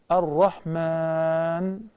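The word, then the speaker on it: الرحمن: There is a little alif on top of the meme that follows the meme, which explains that to prolong the mad, actually it's a mad. So Ar-Rahman.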